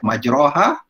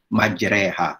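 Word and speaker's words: مجراها: babachu kayaknya bismilahi majreha sebutan dia bukan majroha tapi sebutannya adalah majreha bismilahi majreha wa mursaha dana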